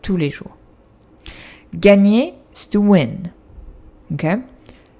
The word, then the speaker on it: tous les jours: But you don't pronounce the S here. Ok? Tous les jours.